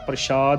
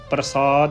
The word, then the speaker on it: प्रसाद: प्राप्ति ी है प्रसा प्रशाद नहीं प्रसाद उच्चारण करना है ससे दे नाल गगन